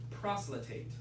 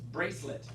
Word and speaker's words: bracelet: It looks like it might be 3 syllables, but you may have it 2 syllables. Yeah. So it's a bracelet. Bracelet. But now I know there's an extra thing in there that looks like 3 syllables, but it's actually just 2. So just say bracelet.